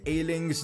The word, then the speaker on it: Ayling: A lot of you guys have been complaining that I've been pronouncing Luke Ayling's name completely wrong. Well, I fixed that for you guys. It's Ayling.